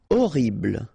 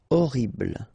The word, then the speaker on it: horrible: Horrible. Okay, remember we don't pronounce H here. Horrible.